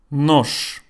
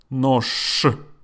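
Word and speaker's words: нож: Nosh. Nosh means knife. And I pronounce it like this. Nosh. With a sh.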